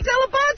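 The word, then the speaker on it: Dell'Abate: My mother still says Delabate. My father still says Delabate. Oh, really? Why do you say Delabate? Because, A, that's the proper pronunciation, and when we were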